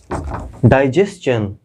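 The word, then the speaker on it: digestion: यानी TION के पहले जब यस आएगा तो इसका उच्चारण चन से होगा, ठीक।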